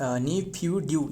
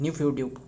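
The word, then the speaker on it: Naypyidaw: जो म्यांमार रहे है म्यांमार की कैपिटल है बताना वो है क्या है नी नी फ्यू ड्यू ऐसे करके रहे ना नी बस स्पेलिंग में लिख देता हूं एन ए वाई नहीं फ्यू पी एच ओ वाई फ्यू ड्यू डी डब्ल्यू ऐसे करके है न्यू फ्यू ड्यू ध्यान में रखना एंड सो काफी बातें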